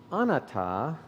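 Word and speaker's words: anatta: says i agree how to say it though anata the pali word next to means non-self atta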